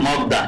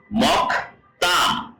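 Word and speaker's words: 먹다: মকদা মকদা তাই না এখানে বইতে লেখা আছে কি মগদা কিন্তু কোরিয়ানরা উচ্চারণ করবে কি মকতা কেননা আমরা এখানে যে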